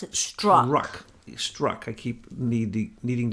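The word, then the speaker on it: Strzok: and his boss whose name is struck you pronounce it strong luck struck I keep need the needing to be reminded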